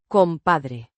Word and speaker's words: compadre: Compadre means buddy, pal or friend. pronounced compadre with a slight rolling sound.